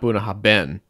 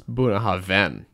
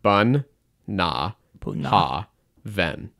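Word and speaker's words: Bunnahabhain: no second it's not buah haben it's buahan it's buah Haven Haven the BH makes a v sound no bahav who says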